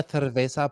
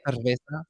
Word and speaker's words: cerveza: Una una cerveza, por favor. It's the th. They have the th sound. Okay. I like it. Una cerveza.